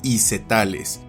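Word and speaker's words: Isoetales: Por otra parte, el diptongo oe se pronuncia también como e, por lo que nombres como este se pronunciarían y castellanizarían como isetales.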